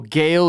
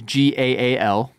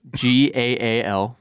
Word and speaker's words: Gaal: So Hari, Well, Gale is Gaal. What is it? Gaal. Oh, okay.